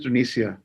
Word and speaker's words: Tunisia: First of all, I just want to say that it's Tunisia, right? The pronunciation is Tunisia.